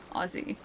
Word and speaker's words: Aussie: It's always with a Z or a Zed. Aussy. That's how you say it.